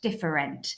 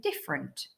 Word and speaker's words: different: pronounce that letter and then in the word different we can't actually really hear the e in there diff if we were to pronounce it with that letter it would be different different and we don't say it like that we say different so we're saying we're saying it without the sound in it so that one's